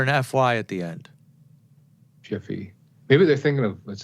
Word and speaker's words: Jif: and subliminally in our minds we picture the name wrong? Could be. I think so. What about Jiffy peanut butter? It's always been Jif. Jif. J-I-F. Yep, they say Jiffy.